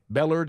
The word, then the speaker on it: Bellard: it's it's you were right Emory Bellard Bellard is how you say it he got ALS